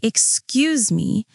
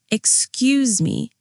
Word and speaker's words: excuse me: Now, pronunciation tip. When we say excuse me, the stress is on Q's. Excuse me.